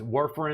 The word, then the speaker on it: warfarin: So warfarin came in. Was warfarin, am I pronouncing that correctly?